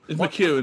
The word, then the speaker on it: McEwen: Is it Les McEwen? Les McEwen. Yeah, it's McEwen, is it?